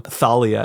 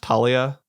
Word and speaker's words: Thalia: I kind of get that from Thalia as well, and some other, is it pronounced Talia? I don't remember. No, it's Thalia.